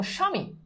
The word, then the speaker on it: স্বামী: আবার বলছি, যদি দেখো যে শব্দের শুরুতে বফলা আছে, তাহলে সেটার উচ্চারণ কখনোই হয় না। শব্দের শুরুতে বফলা থাকলে সেটার উচ্চারণ হয় না। যেমন দেখো, স্বামী, স্বামী, স্বামী মানে কি?